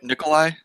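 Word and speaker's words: Nikolaj: it nickel lodge dealers do you pronounce the J Nicholai Nicholai Nicholai right I don't know I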